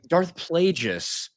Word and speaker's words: Darth Plagueis: and I saw you had people that are, writing stories for Star Wars, not knowing how to pronounce Darth Plagueis. Yeah. Uh, Darth Plagueis.